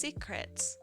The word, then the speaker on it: Syscret: There's apparently a company called Syscret, and it's pronounced secret.